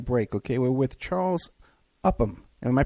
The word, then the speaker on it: Upham: We're with Charles Upham. Am I pronouncing that right? Upham? Yes, Upham.